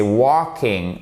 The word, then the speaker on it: walking: So, attention, c'est pas walking, c'est walking. Le L, là, vous ne le prononcez pas.